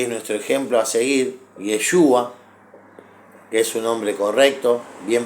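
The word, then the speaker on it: ישוע: santidad Jesús que es nuestro ejemplo a seguir yeshua es un hombre correcto bien pronunciado pero bueno nosotros en en Latinoamérica le decimos Jesús cto su nombre bien pronunciado yeshua pero claro qué decía él santifícalos en tu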